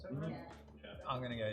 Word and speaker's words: Saint Laurent: Saint Laurent, is that how it's pronounced? Saint Laurent?